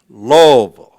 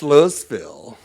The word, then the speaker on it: Louisville: said man we want you to come to Louisville Kentucky y'all hear me Lille it's not pronounced lville that's in Arkansas where I'm from it's lo